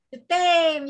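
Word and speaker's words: je t'aime: Jetem. Ya, jetem dibacanya.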